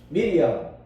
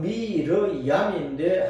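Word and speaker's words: מרים: 미리암. 정확한 발음은 미르얌인데 한글 성경에 미리암.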